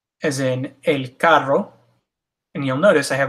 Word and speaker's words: carro: So when you have a double R, or the R is in front of the word, it's pronounced with the R that most people associate with Spanish, the R.